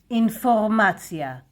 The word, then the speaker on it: אינפורמציה: Information in Hebrew, it's a loan word. Informacja, Informacja. This is how we pronounce it. Informacja.